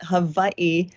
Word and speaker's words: Hawaii: If you pronounce it the way the Hawaiians pronounce it, Hawaii, the first part of that is Hava, and the last part is E.